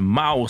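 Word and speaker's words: Maws: Et l'artiste il s'appelle Mouse, ça s'écrit M-A-W-S.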